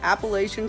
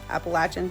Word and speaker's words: Appalachian: Appalachian Trail, Appalachian depending on how you say it, but all of her books, everything is AT themed.